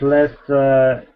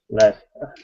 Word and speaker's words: Leicester: Cambridge and Leicester is blown my mind. Leicester.